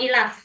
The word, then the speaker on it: IALF: IELTS itu tes resminya ke British Council atau ILAF. Selain itu tidak resmi. Hati-hati. Apa, Miss? Ilaf. Bacanya ilaf.